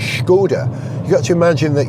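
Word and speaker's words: Škoda: it called the circumflex it's got little accent over the S which means you have to pronounce the S as a sh so it's schod you got to imagine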